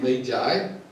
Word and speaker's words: magi: describes these visitors as McCoy or Maggie we pronounce it may guide well you may know